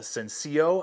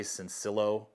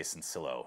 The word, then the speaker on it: Sencillo: We'll find out if the SENCILLO, I believe is how ESEE's pronouncing it. I would say SENCILLO, but I'm watching videos and their guys say SENCILLO.